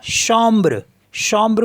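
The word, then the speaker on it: chambre: एम बी आर ई तो ए एम को पढ़ते हैं हम ओ और सी एच को पढ़ते हैं हम श तो ये हो गया शम्र शम्र मींस होता है बेडरूम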